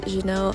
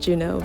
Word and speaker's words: Juneau: shot our next stop was Genoa Alaska actually I think you're supposed to pronounce it Juno but oh well it